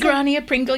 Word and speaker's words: Grania Pringle: Is that how you would pronounce Lady it? Grania Pringle, yes.